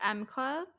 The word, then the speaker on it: M Club: teasing is it pronounced M Club M M M it's like the letter M yeah okay you keep